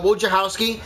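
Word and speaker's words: Wojciechowski: it's pronounced where uh wojciachowski it's easier said if you say where's your house keys nice to hear that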